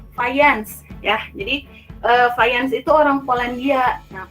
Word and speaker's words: Fajans: Jadi Fajans itu orang Polandia. Nah kalau di Polandia dibacanya itu bukan Fajans ya, tapi Fajans ya.